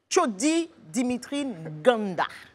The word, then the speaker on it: Chodi Dimitri Nganda: À l'état civil, monsieur s'appelle Chodi Dimitri Nganda. C'est ça. J'ai bien prononcé? Parfaitement, ouais.